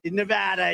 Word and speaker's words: Nevada: couldn't think of it you always have to say it correctly Nevada you got a callada